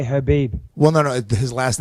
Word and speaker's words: Khabib: Khabib, I think you actually say Habib.